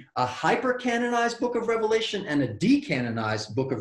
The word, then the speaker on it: Revelation: all throughout this series i never say revelations because there was only one revelation of john every single teacher i have heard or read on this subject matter all make this point apparently there is a pandemic of getting the book's name wrong apparently revelations in english entered in somewhere along the way and we all call it revelations it's just revelation so now that we've